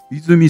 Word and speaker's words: 和: の榊英雄監督の妻泉さんって読むんや